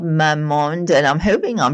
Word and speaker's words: Mamonde: Astadaily is an astaxanthin supplement it's a daily supplement it's an all-in-one formula and um a company called Mamonde and I'm hoping I'm pronouncing it correct it's m a m o n d e.